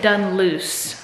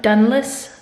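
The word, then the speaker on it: Dunluce: a video playing and they pronounce it dun loose so excuse Mah I thought dless sounded more Irish whatever okay I'm frozen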